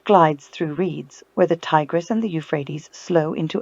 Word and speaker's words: Tigris: A boat glides through reeds where the Tigris and the Euphrates slow into open marsh. So the river names are the Tigris and the Euphrates. That's how you pronounce them.